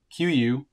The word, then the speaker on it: Kuiu: as well so that's the q u i believe is how it's pronounced uh Katana storm shell